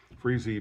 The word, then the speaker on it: Freese: Freese being the correct ethnic pronunciation for my last name.